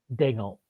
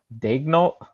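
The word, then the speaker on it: Daigneault: How do you say the OKC coach's last name? Dol. Dol. Yeah, Dol.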